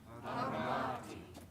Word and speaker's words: armati: Armati. Armati. Armati. Armati. Which syllable do you hear louder than the others? Syllable. The ma, right? The T is not so loud.